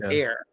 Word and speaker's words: Ehr: Last name is EHR, pronounced Air.